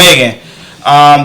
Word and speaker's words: Meghan: Prince and the Prince Harry and his wife Meghan. Is that how you say her name? Yeah, Meghan. Right? Okay. Yeah, Meghan.